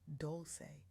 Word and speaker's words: Dolce: I'm your host, Dolce, pronounced doulce, like sweet softness whispered in French, and I'm your guide